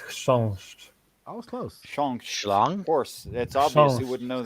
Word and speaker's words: chrząszcz: I can give you beetle in beetle in Polish is pronounced chrząszcz.